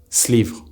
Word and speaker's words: ce livre: This is why ce livre will often be pronounced slivre.